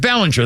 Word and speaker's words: Belanger: And as by the way, it's B-E. It should be Bellinger, but it's pronounced Mark Ballinger.